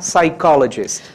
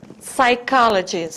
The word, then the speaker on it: psychologist: Psychologist. Psychologist. Again, psychologist. Psychologist. Okay? Tentem repetir. A letra P, ela não é pronunciada, então, vamos de novo.